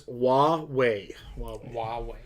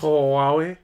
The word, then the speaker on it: Huawei: Craig says it's Huawei. So the H is silent. I think there's a little bit of pronunciation to the H, but it's almost silent. Huawei.